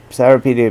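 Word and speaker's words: Cyropaedia: go first through the cyropedia therapedia being the anglicized uh pronunciation and then read herodotus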